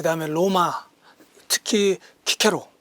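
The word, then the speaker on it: Cicero: 그 다음에 로마 특히 키케로 뭐 시세로 라고 발음 하기도 하죠 이런분들 그 다음에 우리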